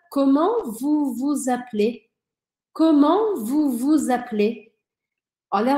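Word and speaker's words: Comment vous vous appelez ?: E aí eu passo a ouvir esse S, que em geral não é pronunciado. Então fica: comment vous vous appelez?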